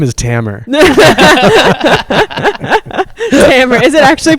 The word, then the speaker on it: Tamer: podcast to tell you that my name is tammer camera is it actually pronounced hammer oh my god i'm so sorry